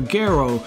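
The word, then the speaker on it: Gero: our further doctor 0's dr. Garrow which is the proper way to say the name most of the time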